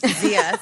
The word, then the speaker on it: Zias: Zias? Zias.